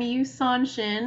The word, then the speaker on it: YuSon Shin: and life yeah sure I'm you sonin my name rhymes with Tucson Arizona um I'm based in